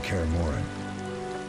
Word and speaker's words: Kaer Morhen: We're nearing Kaer Morhen. Kaer Morhen. Perfect, that's how it's pronounced.